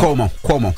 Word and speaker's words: Cuomo: so he appeared on news Nation with Chris kuo is this how you say his name Cuomo Chris Cuomo okay during the conversation Ray J